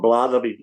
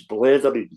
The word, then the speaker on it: blethering: It's not blathering, it's blethering.